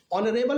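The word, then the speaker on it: honourable: यहां पर आप देख सकते हैं ऑनरेबल में एच जो है वो साइलेंट है, स्वर ओ की आवाज आती है इसलिए एन का प्रयोग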